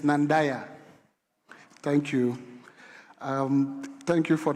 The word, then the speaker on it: Nandaya: The right pronunciation is Nandaya.